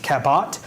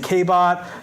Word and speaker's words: Cabot: It still can't pronounce its name, Cabot. It's Cabot, but it was saying Cabot, Crabot, other things, and so we just made it say Cabot, Richard Cabot.